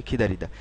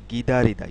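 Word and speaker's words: 기다리다: এর মূল উচ্চারণটা এরকম গিদারিদা গিদারিদা কিন্তু ওরা গিদারিদা বলে না ওরা বলতে বলতে আসলে এটা বলতে বলতে জিনিসটা এরকম হয়ে গেছে গিদারিদা না বলে ওরা বলে খিদারিদা টু ওয়েট অর্থাৎ অপেক্ষা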